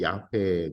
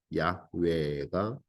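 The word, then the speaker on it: 야훼: 자가 너를 보냈다고 말해라 이렇게해요 이게 이제 히브리어로 야회 든요 이제 여호와라고 말하는데 사실은 여호와다는 조금 더 정확한 발음이 야외입니다 어 하아라 하는 히브리어 비동사의 온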